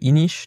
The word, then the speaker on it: Inis: Ouais, tu dis ish, t'es portugais? Non, parce que c'est apparemment du celte et que ça se prononce comme ça.